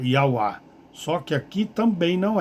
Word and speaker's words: Yahweh: Então, daí a falsa pronúncia de Jeová. Sabe-se hoje com certeza que a sua pronúncia correta eles colocaram aqui Yahweh, Yahweh, Yahweh, né? Yahweh.